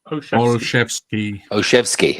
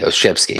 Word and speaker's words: Olszewski: How do you pronounce this name? Because I struggle sometimes. Olszewski. Olszewski.